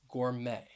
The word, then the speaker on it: gourmet: going to talk about a silent t that you will find at the end of some words so the first word